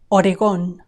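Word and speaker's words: Oregón: Missi missuri oron oron here we have a very handy written accent telling us where to stress this word oron oron on the second o oron oron notice how different it sounds in English oron oron Pennsyvania Pennsyvania remember that the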